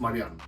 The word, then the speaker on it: Marian: It's Marian, Marian. the European way. Okay. But I'm getting used to the with the American way of saying it.